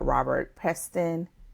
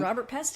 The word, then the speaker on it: Robert Peston: final episode of us discussing The Whistleblower by Robert Peston. Is that did I say it right? That's gret. You nailed it. Listen, Robert Peston.